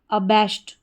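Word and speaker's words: abashed: तो पूरी स्पेलिंग हमारी क्या बन जाती है, ए को हम पढ़ेंगे अ, और बी ए एस एच ई डी को साथ में पढ़ेंगे बैश्ड, बैश्ड, अबैश्ड।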